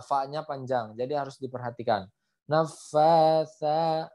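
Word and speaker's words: النفاثات: Nafasa. Nah, fa-nya panjang kemudian huruf sa. Huruf sa itu makrojnya sama dengan huruf zal. Ujung lidah bertemu dengan ujung gigi seri atas.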